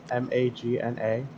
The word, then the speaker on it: Magna: I don't see anything isn't that how you would pronounce her name m-a-g-n-a Magna yeah yeah yeah that's what Britney said she said Magna why we can't make